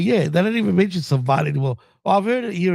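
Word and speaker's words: savate: The super kick is a savvat kick. Like the actual pronunciation of that kick. But yeah, they don't even mention savvat anymore.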